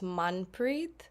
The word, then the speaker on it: Manpreet: name is actually pronounced Manpreet okay I like to say the A's for awesome and my last name